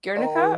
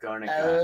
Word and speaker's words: Guernica: D Guernica or Garnica. L- No, not G-U-E? dipsticks. RNICA. Thank you. You're Guernica, two welcome. pieces. I put 2 R's. Good. Like you have to roll your R when you.